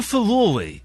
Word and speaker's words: furore: There's been such a furore, and that's how you pronounce that word, about the Rolling Stones playing Glastonbury.